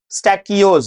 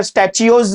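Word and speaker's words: stachyose: स्टैकियोज। बोलो जरा ढंग से प्रोनाउंस करना सीखो, स्पेलिंग सही लिखोगे। बहुत सारे टीचर स्टैचियोज बता रहे हैं, स्टैचियोज नहीं है, स्टैकियोज है, क है, च नहीं है।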